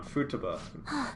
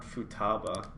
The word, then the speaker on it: Futaba: you're useless and they got me saying it wrong Futaba not Futaba yeah yeah he's cheating